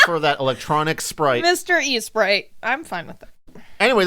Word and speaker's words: Esprit: only one i it's espri oh i thought there was two eyes no there's only one e-s-p-r-i-t okay so it's mr east e sprite he's all for that electronic sprite mr e sprite i'm fine with it